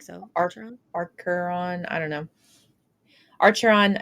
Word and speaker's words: Archeron: archeron I don't know archeron is how I pronounce it uh sisters yes um